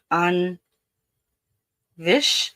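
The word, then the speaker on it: taibhse: So it's an on vish an onvish. It's spelled T A I B H S E and it means ghost.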